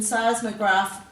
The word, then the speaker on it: seismograph: of many words um the ph in seismograph makes the f sound uh and i think